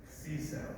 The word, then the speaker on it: CISO: Mike, how do you pronounce it? CISO.